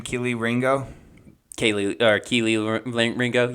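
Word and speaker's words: Kelee Ringo: in this draft uh-huh that's that's booking it Kelly is that how you say his name Keeley Ringo Kaylee or Keeley Ringo Keeley Ringo um he's pretty good he's wearing a four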